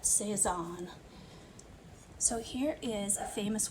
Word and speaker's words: Cézanne: He was French, that's why we say his name like that, Cézanne.